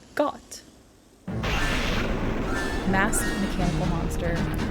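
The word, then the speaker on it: Goht: I introduce you to got um that is goat spelled with an H so it's got Mass mechanical monster it's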